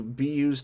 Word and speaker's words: byuu: everything wrong, this time, going from BYUU to BU, I think a lot of people probably made the same jump.